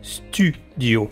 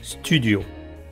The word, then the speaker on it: studio: Bon bien là, j'ai pas grand-chose à expliquer mais prononcez bien U. Studio Studio Mon chéri.